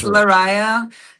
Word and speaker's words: Lariyah: Did I did did I pronounce it okay? Cuz I hate if Oh, no worries. It's Larisa, and the band's name is Devinwahr.